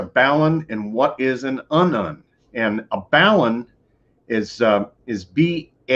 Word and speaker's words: unun: Now, an unun, or your onion, it is pronounced unun, is unbalanced to unbalanced.